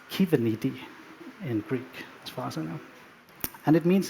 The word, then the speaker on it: Kubernetes: in here except for Kasper knows how to pronounce Cuban ladies in Greek this might happen because kubernetes is